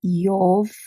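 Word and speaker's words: Йовка: name, for example, name Yovka, Yovka, Yovka, then is I kratko and o. I kratko and o, yo, Yovka. And if you hear this V when you're pronouncing it, it becomes F.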